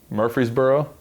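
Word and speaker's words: Murphysboro: try uh first off I might pronounce this wrong so tell me you're from Murphy's Boro is that right perfect I nailed it tell me about Murphy's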